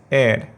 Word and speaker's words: heir: H silent है इसमें, और इसका प्रोनाउंसिएशन है एयर।